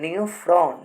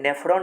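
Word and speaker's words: Neophron: नियोफ्रॉन। देखिए स्पेलिंग देखिए, कन्फ्यूजन नहीं, नेफ्रॉन नहीं बोल रहे हैं, नियोफ्रॉन बोल रहे हैं।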